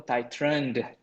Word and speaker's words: titrant: Okay, analyte ataupun titrant. Nampak ejaan dia D Yang ni ejaan dia T. T-I-T-R-A-N-T. Titrant. Yang bawah ni titrant. Kena pandai bunyi T dengan D.